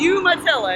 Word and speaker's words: Umatilla: Yeah, But- it's Umatilla. It's pronounced a little different.